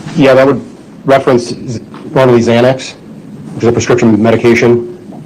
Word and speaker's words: Xanax: And Xanax is really spelled with an X, correct? X-A-N-A-X? Correct. But in your work as a detective, especially in the drug field, you know that people commonly think it's really spelled with a Z That's correct. because of the pronunciation.